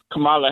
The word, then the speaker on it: Kamala: And if you notice how he kept mispronouncing Kamala Harris' name and everything, a lot of these people in these groups, if you're not from America, you mean Kamala?